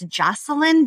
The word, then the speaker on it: Joshilyn: Well, my name is spelled weirdly. It's Joshilyn, but it looks like Joshilyn.